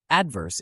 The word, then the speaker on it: adverse: let's start with pronunciation adverse is pronounced as Aid verse break it down with me ad is stressed followed by a soft verse practice with this sentence